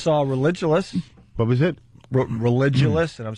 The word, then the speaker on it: Religulous: Religulous, and I'm saying it right.